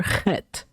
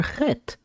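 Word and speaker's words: חֵית: The letter Chet is a Gutler letter with no English letter corresponding to its sound. However, the syllable CH could help you catch the sound of this letter. I like to think about it as cleaning your throat.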